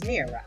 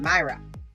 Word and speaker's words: Myra: here's another fun fact the correct ancient pronunciation is Mirra not Myra well my prince and